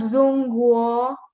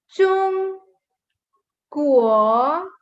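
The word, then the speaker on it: 中国: Okay, and it's not Zungguo. No, it's not Zungguo. Listen to my pronunciation very carefully. It's Chung, Chung, Guo, Chung, Guo.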